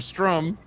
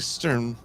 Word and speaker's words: Sturm: I was saying it wrong when I met her, because my eyes flip-flopped. The flim-flammed. And I was calling her Strum. And then Gene wrote it Strum originally. And it's like Sturm.